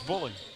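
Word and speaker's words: Mboule: You know, it's funny, Avon Buhler, his last name spelled M-B-O-U-L-E. I would have never pronounced that as Buhler, but it is.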